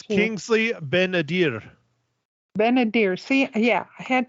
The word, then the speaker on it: Kingsley Ben-Adir: It's Kingsley Ben-Adir. Ben-Adir. See, yeah, I had trouble. But it's pretty, but I just pronounce it wrong every time.